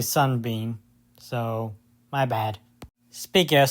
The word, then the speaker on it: Sun-Bean: Also, apparently I got uh Solar Bean's name wrong. It's actually His name is actually Sun-Bean.